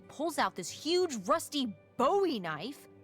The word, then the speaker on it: Bowie: no warning, he pulls out this huge rusty Bowie knife. It's actually pronounced Bowie. What? No, it's like the last name, like David Bowie. Different last name. Bowie.